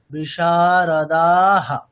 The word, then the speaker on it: বিশারদাঃ: বিশারদা দীর্ঘগুলো আগে মানে দীর্ঘ হলে টানতে হবে, তারপরে বিসর্গের উচ্চারণটা পড়ে। মানে কিরকম, যুদ্ধা বিশারদা, দাটা আগে আমি দীর্ঘ করব, বিশারদাহা।